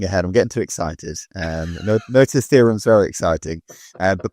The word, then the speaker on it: Noether: mathematician and physicist called Noether, or Noether. I'm not too sure how to pronounce it. Not Nutter. Sounds like Nutter to me. No, it's got one of those E's with the dots on it.